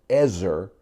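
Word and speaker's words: עזר: It's the Hebrew word pronounced ezer, and it doesn't mean the little assistant that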